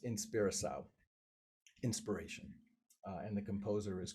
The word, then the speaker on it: Inspiração: My Portuguese is really, really not anything to be proud of, but I think it's pronounced Inspiração, inspiration.